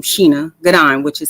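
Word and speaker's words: Shana: it's about it's felt like Shayna but it's pronounced Sheena okay okay that's it okay I just want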